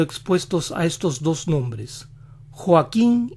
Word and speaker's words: Joaquín: acento a joaquín ellos pronuncian las cuotas de esos nombres tan suaves al estilo de su h que muchas veces ni se oye así joaquín joaquín juan juan así que